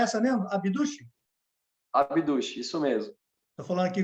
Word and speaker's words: Abduch: A pronúncia é essa mesmo? Abduch? Abduch, isso mesmo.